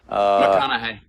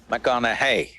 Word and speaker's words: McConaughey: McConaughey. McConaughey. Rhymes with what would Madonna say?